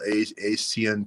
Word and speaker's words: ASEAN: Could you pull ASEAN countries, not Asian, but ASEAN?